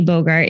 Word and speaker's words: Bogart: your name is Bogart and you go by yeah I do I do go by so um very similar to yes pronunciation of Humphrey Bogart the old actor of